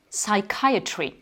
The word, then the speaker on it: psychiatry: et bien là, pareil, on ne va pas prononcer le P. Donc la psychologie, on va dire psychology. La psychiatrie, psychiatry.